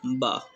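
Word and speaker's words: ب: So you remember this thing, when the one dot downside, so it will be always Ba. Okay. So A A Ba. So Ba will be pronounced when our inner wet part of lips met, so then ba will be pronounced.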